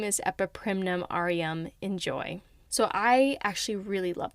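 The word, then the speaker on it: N'Joy: So the way it's spelt is in apostrophe J-O-W, like enjoy. And as I'm saying out loud, I finally get it. It's like enjoy.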